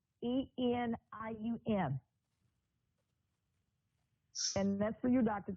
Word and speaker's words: selenium: I will spell it out so you can see it. It's SELENIUM.